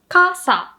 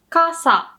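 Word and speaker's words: 傘: casa means umbrella right and it goes hilo casa casa and if you want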